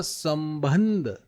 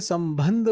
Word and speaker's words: संबंध: वाले वर्ण के लगेगा लेकिन मैंने बोला संबंध जैसे ही मैंने संबंध बोला तो स के बाद क्या बोला मैंने? अनुस्वार की ध्वनि आई।